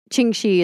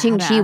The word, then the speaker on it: Ching Shih: Ching Shih is the one I went with, but there's 3 different names but they all mean variations of her husband's name.